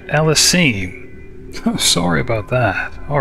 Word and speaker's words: Ellesime: pronunciation of her name I've been saying Alysa it's actually Elis I'm sorry about that